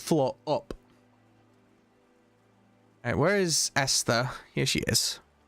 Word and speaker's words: Esther: I'm just gonna say Esther and just to assume the H is silent.